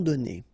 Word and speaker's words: donnés: Okay, so the good news is that you don't pronounce it. So donner, okay, so whether it would be without this final es or with es, you will pronounce it the same way.